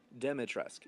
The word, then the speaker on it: Dimitrescu: Dimitrescu, yeah, with a soft E.